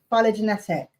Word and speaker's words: phylogenetic: Biological species are, or what's PHY? Is that F? Is that pronounced as F or psi? Phylogenetic. Phylogenetic species.